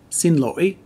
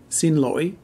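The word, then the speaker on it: xin lỗi: excuse me in vietnamese in the north it's pronounced sin loi sin loi and in the south it's sin loi a little softer also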